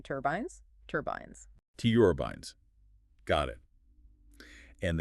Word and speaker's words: turbines: Wind turbines, make sure to emphasize that second syllable in turbines, turbines.